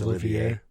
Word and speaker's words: Olivier: It looks like Oliver with an I in it, but I think it's Olivier. Yeah.